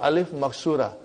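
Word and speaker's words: ألف مقصورة: It is ya, but it is pronounced as alif. It's called alif maksura.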